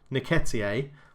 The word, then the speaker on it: Nketiah: So the other people on my targets list that have jumped out at me so far, we had Nketiah, I think is what you pronounce it.